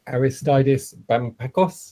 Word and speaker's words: Aristeidis: gde presenting to us okay um we've got aristides did i pronounce that okay absolutely tom you pronounce